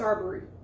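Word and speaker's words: Arbery: Okay, yeah, it's Aarberry.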